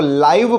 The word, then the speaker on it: live: जब हम इसको लिव पढ़ते हैं तो इसका मतलब होता है रहना। एज यू कैन say that I लिव इन a city, मैं एक शहर में रहता हूँ। लेकिन अगर हम इसको लाइव पढ़ रहे हैं तब इसका प्रोनाउंसिएशन अलग हो जाएगा।